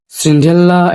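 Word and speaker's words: Cinderella: সিন্ড্রেলা, এটা এরকমই British উচ্চারণ।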